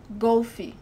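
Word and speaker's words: golfe: hockey so Bria grandma golfy golfy so you have to close the sound of the all compared to the English pronunciation Golf e.g nastika artistic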